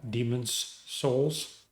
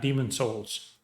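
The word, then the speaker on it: Demon's Souls: it was probably uh demons Souls by the way that's demons souls okay not Demon Souls demons Souls I don't want to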